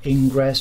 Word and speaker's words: Ingres: Standard pastel papers, such as, it's spelled Ingres, but I think it's pronounced Ingre, those type of papers, they will not layer like pastel matte and like the sanded papers layer.